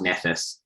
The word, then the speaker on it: Nephthys: married to someone called it's spelt nephthys but i think it's pronounced nephes yeah that's just the